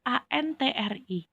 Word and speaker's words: antre: Kita mengenal bahwa kata antri itu ANTRI. Ternyata dalam kata bakunya itu bukan I, tapi E. Antre tulisannya, tapi kita bacanya tetap antri pakai I.